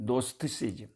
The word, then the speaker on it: Gnosticism: 한국말로는 영지주의라고 그러는데, GNOSTICISM, 노스티시즘이라고 앞에 G는 묵음으로 해가지고, 이게 뭐냐면은 영지주의라는 게 뭐예요?